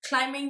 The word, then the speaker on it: climbing: um but in terms of climbing the, apparently the B is silent, climbing the corporate ladder will